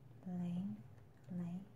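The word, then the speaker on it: ylang-ylang: It is pronounced Lang Lang. It is Y is silent, so it's a ling ling.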